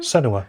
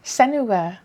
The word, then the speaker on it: Senua: Senua. Senua.